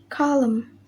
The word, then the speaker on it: column: The letter N. Rule: N is not pronounced when it comes after M at the end of a word. Example: autumn, hymn, column, solemn, and dam.